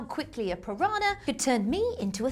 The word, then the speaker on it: piranha: The name piranha comes from the Tupi-Guarani Indian derivative, pira meaning fish and rana meaning teeth. In fact, it's meant to be pronounced piranha. Hang on. Piranha. Piranha. Piranha, the toothed fish.